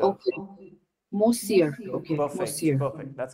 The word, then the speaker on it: monsieur: मोज्यूर, मोज्यूर, Monsieur, monsieur, M-O-N is mo, C, monsieur, monsieur. Okay, monsieur. Okay, Perfect, monsieur. perfect. That's correct. Thank you. All right, Monsieur.